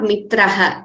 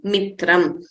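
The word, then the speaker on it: मित्रम्: like pradini G said it is not mitraa it is mitam mitam is friending word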